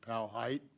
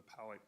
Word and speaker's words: Powhite: You know, there's always a great debate in Richmond on how you pronounce it. Is it Powhite? Is it Powhite? Is it Powhite? I always sort of default to the Powhatan kind of thing and call it Powhite.